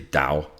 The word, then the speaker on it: Dao: So I think Daoism, or if you're going for an older translation, the Wade Giles begins with a T, and some people pronounce Taoism, but it's really Dao, the Dao, the way.